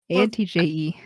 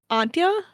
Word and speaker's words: Antje: A-N-T-J-E. The J is like a Y Is it sound. Y? And the E would make like a sound. So Antje? Antja? Antja? That's my guess.